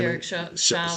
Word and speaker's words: Derek Chauvin: Derek Chauvin.